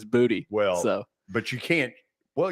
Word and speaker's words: Boutte: Is it Boutte? I think it's Boutte. I've actually heard the official pronunciation that he prefers is Boutte.